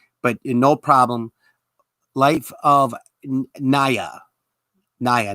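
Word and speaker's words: Niya: I thought it was pronounced like Nia Long. My bad. N-I-Y-A. Naya? Life of Naya? Do I have it correctly? Am I pronouncing it correctly?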